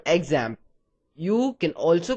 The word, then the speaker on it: XAMPP: using it we're going to use something called examp you can also call it zamp and that's how it's supposed to be pronounced however I'll just refer to it as